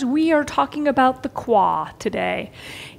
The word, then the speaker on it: qua: My dear shifters, we are talking about the qua today. It's uh sometimes spelled KWA, sometimes it's spelled QUA.